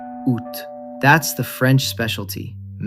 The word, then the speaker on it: août: French took it all the way down to one syllable: août.